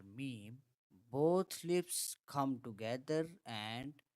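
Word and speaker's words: ميم: The next letter is Meem, Meem is a normal, easy, and very simple letter, just like the letter M. In M for mother or M for Muhammad, when pronouncing the letter Meem, both lips come together and touch each other.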